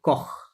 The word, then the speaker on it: corps: সি ও আর only, হ্যাঁ, এই উচ্চারণটা এইটুকু আসবে, কখ। আর এটা হচ্ছে কখ, কি হবে? কখ, Corps. কখ, হ্যাঁ, একটু টেনে বলতে হবে, হ্যাঁ, কখ, কখ।